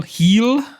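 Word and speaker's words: Gil: Jean Carlo and uh Luis G heel I believe it's pronounced he's out for 68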